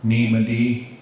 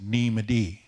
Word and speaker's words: Neemadi: gets pronounced a lot, and that glottal stop, that hiccup in the middle, gets lost a lot because it just gets said so much. So you'll just hear people say Neemadi rather than Neemadi.